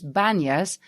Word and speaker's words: Banyas: as panas or banyas in arabic they don't pronounce the p so it's banyas and he called the